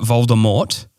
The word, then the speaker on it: Voldemort: know is that Voldemort the t is silent it's a French word why did they why